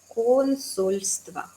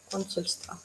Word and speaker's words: Консульство: Consulstva. Con el acento a la primera sílaba. Consulstva.